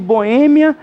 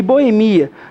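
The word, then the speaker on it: boêmia: podem ter Supra pronúncia é o caso de Boémia e Boemia da forma que você fala Está correto Você pode falar Bohemia ou Boemia Você pode falar cromada ou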